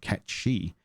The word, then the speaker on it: Cait: the case with with Kate Sith it's supposed to technically be pronounced Ki because it's gayc and it's based on a Scottish thank you it's based